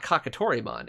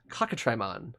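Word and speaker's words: Cockatrimon: make sense so like this is not kakitorimon it's kakatrimon as in a cockatrice or a cockatrice whatever you want to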